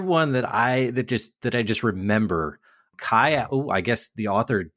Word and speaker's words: Kai: And then the other one that I just remember, Kai. Oh, I guess the author just told me that it's pronounced K Allard Liao over on Twycross, where he's standing at this pass.